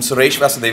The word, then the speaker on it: Suresh Vasudevan: progress for a long time I'll start by pronouncing my name I think uh Steve bypassed that since it was complex I'm SES Vasan CEO of nimble storage thank you very much